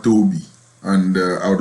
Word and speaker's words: Toby: I have to correct the pronunciation of our storyteller, Toby, not Toby.